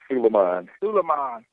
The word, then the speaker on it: Sulaiman: Sulaiman? Sulaiman. Yeah, I butchered it anyhow.